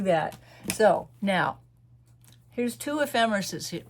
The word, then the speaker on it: ephemeris: So now, here's two ephemeris right here. Ephemeris, Ephemeris. That's pronounced ephemeris.